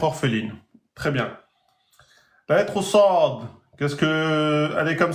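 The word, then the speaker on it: صاد: On dit Sad. Donc, ça se prononce Sa en 2 temps.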